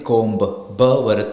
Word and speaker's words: comb: c m b so we'll never say com so it's only com the B is silent there we are not